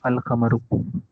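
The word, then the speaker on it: القمر: No such assimilation takes place with the lunar letters. Example, Al-Khamaru. The moon is pronounced Al-Khamaru.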